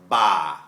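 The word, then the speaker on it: ป่า: ba, that means shoulder, ba. Whereas if I say it with a hard B and say ba, you hear that? There's a little pop sound, ba. That becomes forest.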